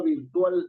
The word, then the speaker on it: virtual: La mayor fuerza de voz está en la A, pero Claro, no en la última termina sílaba, ¿no es en cierto?